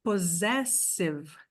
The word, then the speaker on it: possessive: Aqui, ó, gente, possessive. O segundo tem som de S. Mas o primeiro joguinho aqui, o primeiro parzinho de S tem som de Z. Possessive.